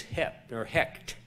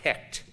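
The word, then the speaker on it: Heqt: The frog god's name was Hecht, H-E-Q-T. So I presume that's pronounced Hecht.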